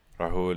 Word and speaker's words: Rahul: Rahul is correct pronunciation.